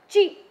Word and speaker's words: qi: Qi, pronounced qi. It can also be spelled as qi, but still pronounced as qi.